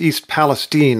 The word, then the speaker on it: East Palestine: very gracious in not calling me out on mispronouncing the name of the town so I'll call myself out it's East Palestine Ohio and secretary Pete Buda judge thanks very